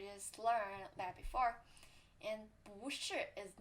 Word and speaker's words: 不: When it appears itself, you have to say 不. And when it's before third tone, you have to pronounce 不. And when it's before third tone, you have to pronounce 不. And if it's before second tone, you have to pronounce it 不 too. And if it's before fourth tone, it's second tone.